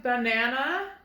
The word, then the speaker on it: banana: All right, did you guess banana? Can you hear that sound? Banana is spelled with 3 A's. Ba-nan-a. It says twice. Banana. Saying the schwa sound.